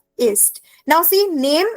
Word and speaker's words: Name: Now see, name is written exactly the same in German and in English, right? But pronunciation is different in German.